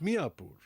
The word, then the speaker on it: Mayapur: the fact that this village was identified as Mayapur. In the olden days, the Muslims used to call it Miapur. Although there is a difference in pronunciation, the similarity is obvious.